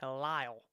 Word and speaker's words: Halil: I think it's called Halil, is how it's pronounced in the Hebrew.